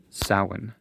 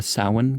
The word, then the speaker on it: Samhain: I know it says Samhain, but that's how it's spelled, but it's pronounced Samhain.